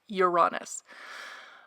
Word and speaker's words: Uranus: by everyone's favorite planet Uranus that's how it's pronounced Uranus but it's everyone's favorite planet Uranus promises disruption